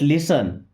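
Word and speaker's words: listen: Just लिसन, just means बस, लिसन T silent है तो सुनो।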